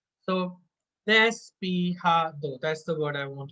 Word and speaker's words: despejado: Now, in Spanish, J is pronounced as ha, so it's not ja, it's ha. So, despejado, that's the word I want to memorize.